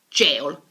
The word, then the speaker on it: gaol: a spell to gaol like in the old times but it's pronounced jail move on to william